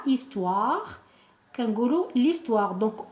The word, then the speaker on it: histoire: l' histoire qu'un gourou l'histoire donc on ne dit pas là histoire qu'on dit l'histoire donc on fait comme si ce h n'existait pas d'accord on appelle ça